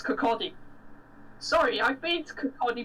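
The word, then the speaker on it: Kirkcaldy: like audi and king horn though was it pronounced kakadi not kirk aldi it's not the aldi of kirkby or something yeah i i i always pronounce it called egg it's kakadi sorry i've been to cody before and i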